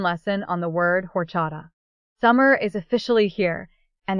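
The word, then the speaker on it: horchata: A lot of people see the spelling and say horada, but the H is completely silent. You say it like orcha.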